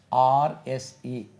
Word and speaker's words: horse: It rhymes with force, a force.